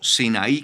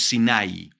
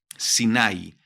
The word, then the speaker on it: Sinai: Hasta el monte Sinai, ¿sí? O Sinaí, como se dice en español, ¿sí? Sino que la pronunciación en hebreo es Sinai, Sinai.